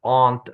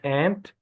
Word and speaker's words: aunt: Uh I want you to pay attention to the pronunciation of aunt, not ant.